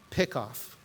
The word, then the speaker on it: PICKOF: So I'm going to pronounce this PICKOFF.